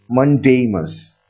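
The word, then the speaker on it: mandamus: r that is mamus it is being pronounced as mamus which means we order mamus means we order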